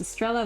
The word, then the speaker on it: Estrella: I only use one L so people who don't speak Spanish can pronounce it without issue. That's smart. The proper Spanish spelling is Estrella with 2 L's.